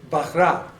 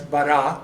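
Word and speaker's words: בָּרָא: So it is bahra. Okay, so again, that's how you literally translate it. But we know this word as bara.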